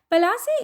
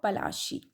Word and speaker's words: Plassey: Plassey is an anglicized pronunciation of Palashi, and the place derived its name from the Palash tree, known for its beautiful red flowers that yield gulal.